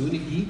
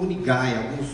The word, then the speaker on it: UniGUI: E se pronuncia exatamente assim, UniGUI e não UniGAI.